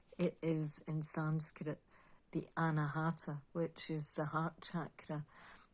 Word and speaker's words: Anahata: and put my glasses on so I can pronounce it correctly for you. It is in Sanskrit the Anahata, which is the heart chakra.